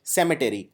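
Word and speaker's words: cemetery: के अंदर था सेमेट याद रखिए इसको प्रोनाउंस करते हैं सेमेट ना कि सिमेट्री सिमेट्री मतलब होता है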